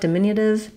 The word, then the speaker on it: diminutive: If you're working on your flap T anyway, then you can use more of that flap light D here, diminutive.